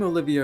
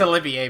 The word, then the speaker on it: Olivier: introduce myself again I'm Olivia a Wandering board and musician it's Olivier by the way okay a Wandering Bard and